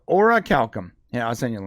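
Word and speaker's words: Orichalcum: go no Ora Calcom Ora Calcom Ora Calcom Ora Calcom okay okay it's called Ora Calcom yeah I'll send you a link right now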